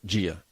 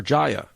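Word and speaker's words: Jia: They decided to name this beautiful baby girl Gia. But they spelled it J-I-A. Jaya? So whenever they went to the doctor would always mispronounce her name. Commonly, I don't blame them, calling her Jaya.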